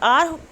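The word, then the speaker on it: hour: I will return in half an आवर, आर H silent होता है इसलिए हम इसको क्या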